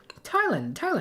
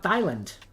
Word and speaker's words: Thailand: say these countries' names, I would call it Thailand. You know, like a Thailand, because there's a TH. That's not how you say the country, at least.